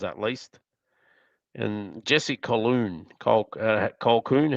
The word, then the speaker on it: Colquhoun: Colquhoun, how do you pronounce that?